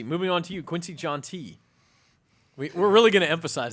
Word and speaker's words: Jountti: So it's JOUNTTI, not JOUNTTI.